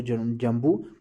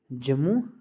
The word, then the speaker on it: जम्मू: उसके बाद कहते हैं कि पहले जब उसको जम्बू प्रोनाउंस करा जाता था उसके नाम से ही उस, बट ये प्रोनाउंसिएशन थोड़ी थोड़ी मॉडिफाई होते गई है और जो बाद में जम्मू प्रोनाउंस करी जाती है, जो अब हम उसको जानते हैं जम्मू के नाम से।